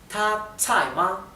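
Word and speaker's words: 他在吗: Fíjense que la pronunciación ta con el tono alto, tsai con el tono que cae, tsai, y ma es neutro, por eso no tiene tono. Ta tsai ma es él, ella está allí.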